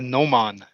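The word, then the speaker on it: gnomon: an angle a a nan nan yeah g n o m o n Nan something like that G I think that's how you pronounce it g n o m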